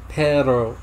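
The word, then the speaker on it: perro: Paro. If you roll the R's, it means dog. Pero, just pronounced like that, means butt.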